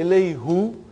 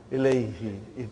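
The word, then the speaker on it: إليه: Now, if I say Ilayhu, see, look at the way you make your mouth, you know, muscles in your mouth. Ilayhu, it takes extra effort. And even also, it doesn't sound nice to the ear. So, who became? Now pronounce Ilayhi. You can pronounce with ease, you know.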